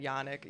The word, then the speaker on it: Janek: And then Yanik Jan is John in check.